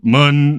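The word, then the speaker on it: Muun: a weird a giant the pronunciation of of M is like is so funny because any because it's such you can like it's also pronounced Moon and I always just think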